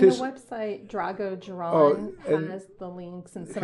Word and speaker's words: Dzieran: Drago It's like cuz the way this is spelled is not supposed to say Dzieran. That's not what I would have come out of my average Texan accent.